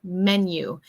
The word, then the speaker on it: menu: Menu, como carta, menu. Remember that pronunciation. We say men, como hombres, you. Eso es como si fuera una Y, menu.